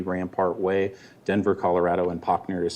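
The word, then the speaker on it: Pachner: behalf of shea homes my name is potner i'm a land use consultant for shea my address is 130 rampart way denver colorado and pochner is spelled p-a-c-h-n-e-r i will be very brief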